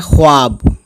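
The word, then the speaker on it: خواب: है सेवाओं अलिफ बे तो वैसे तो लिखा है ख्वाब ख्वाब लेकिन वह आपको हम साइलेंट कर देते हैं यानी लिखने में तो आता है है ना लेकिन पढ़ने में नहीं आता तो यहां भाव जो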